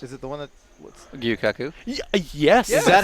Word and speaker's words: Gyukaku: Gyukaku. Yes. Is that how you pronounce it?